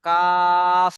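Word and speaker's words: كاف: কা বলে ছেড়ে দিলে হবে না, কাফ লাস্টে ফা উচ্চারণ হবে, কাফ বলেন। জিম সা কাফ।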